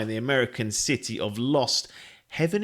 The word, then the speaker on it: Lost Heaven: the American city of lost Heaven is it or Haven I can't they pronounced it lost Haven lost Haven Circa 1930